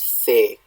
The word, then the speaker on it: fé: Now, here in the Old Norwegian one, we have, and I'm going to be using like Old Norse pronunciation, reconstructed Old Norse pronunciation. This is fe, fe.